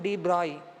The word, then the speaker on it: de Broglie: So the de Broglie indicate actual pronunciation de Broglie.